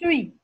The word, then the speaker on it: fruits: You don't pronounce the T and the S. Fine, ma'am. Only fruit.